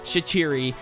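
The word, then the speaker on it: Shaqiri: as shachiri pushes forward that is how it's pronounced shachiri to the guy that commented in my last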